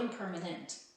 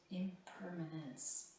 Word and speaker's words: impermanence: It's not impermanent. Impermanence.